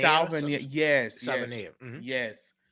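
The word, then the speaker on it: Savaiinaea: guard I think it's Salvanea. Salvania. Yes, yes, Salvanea.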